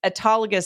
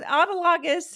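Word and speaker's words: autologous: I was pronouncing um it, you know, it's autogus surgery, but I was calling it surgery. And and so I was saying, "Oh, okay." So autologus and blah blah blah, you know,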